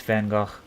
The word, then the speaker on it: Van Gogh: I think it's Van Go. That's just because that's how I learned to say his name or that's how family said it in the past.